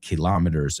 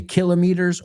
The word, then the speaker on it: kilometers: done nearly as many kilometers as you. Y mira, fíjate, hablando de meters, si decimos meters, siempre se pronuncia así. Pero kilómetros, you can say kilometers or kilometers.